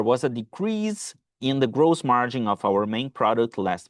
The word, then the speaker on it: gross margin: pronúncia de margem bruta, gross margin. Gross margin. Eu vejo esse o é fechado, tá? Eu vejo muita gente dizer gross margin, tá errado, é gross margin.